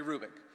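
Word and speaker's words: Hrubec: Ube C Terry kruik the H is not pronounced Terry Rubik she did studies of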